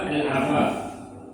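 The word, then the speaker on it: العفاف: Yang pertama al-afaf, ya, bi fathil ain. Ainnya fathah tuh. Ya, kalau pegang kitab ini tahu nih. Ya, ainnya bacanya fathah, bukan kasrah.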